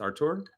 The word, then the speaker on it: Artur: It's not pronounced Arthur like me, right? It's Artur.